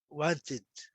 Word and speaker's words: wanted: I have always wanted to eat sushi. Eu sempre quis comer sushi. Mesma coisa, é o verbo have. Wanted. Wanted, olha o T aqui, acrescento uma sílaba, wanted.